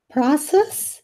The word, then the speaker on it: process: suffer because of this process in American English process in British English process process this symbol sounds like pro process prior process see the difference so so different pronunciation